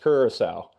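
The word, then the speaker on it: Curaçao: For Wayne Gretzky, it is pronounced Kurissau, not however he pronounced.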